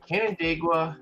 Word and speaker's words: Canandaigua: they from uh I'm gonna do my best pronounce this Canandaigua New York you got it first try buddy